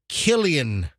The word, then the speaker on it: Cillian: And I called him Cillian Murphy when the C is like not Celtic, but Celtic. So his C is pronounced like a K.